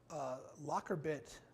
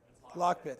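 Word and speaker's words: LockBit: them at a bad time this was a locker bit version two account so this this is basically the top sophisticated ransomware group in the country i may have the name wrong um lock bit thank you lock bit 2.0 is based out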